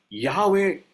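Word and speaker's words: Yahweh: ஸோ இந்த வார்த்தைக்கான சரியான உச்சரிப்பு எப்படி அப்படின்னா யாவே அப்படின்னு சொல்லப்படுது. இந்த வார்த்தை யாவே. அது பிரிட்டானிக்கா என்சைக்ளோபீடியா என்ன சொல்லுதுன்னு சொன்னா, இந்த யாவேன்ற வார்த்தை தான் அது சரியான உச்சரிப்பு.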